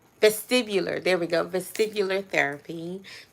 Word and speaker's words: vestibular: I finally had got released from going through vascular, make sure I'm saying it right, vestibular.